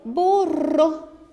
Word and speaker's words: borró: Veja que essa palavra que nós estamos analisando, a borrou, tem destacado a última sílaba. E nós percebemos que essa última sílaba destacada é a mais forte. Borro. Tem inclusive um acento indicando isso.